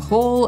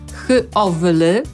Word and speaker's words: howl: Ale nie. Mimo, że zapisujemy je h-o-w-l-y, czyli no tak wydawałoby się, że ma to sens. Jednak wymawiamy to słowo tak, żeby się rymowało z sową, czyli owl, więc będzie to howl i znaczy wyć.